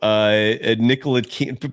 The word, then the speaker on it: Ntilikina: Ntilikina. Props on pronouncing that because the pronunciation doesn't match the lettering.